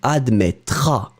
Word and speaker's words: admettras: Ending for tu will be AS. You don't pronounce the final S. Tu admettras.